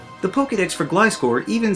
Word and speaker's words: Gliscor: Gliscor and Gligar are a pair of Pokemon that, even though they're flying types, don't technically fly. They use their wings to glide around, the same as a flying squirrel.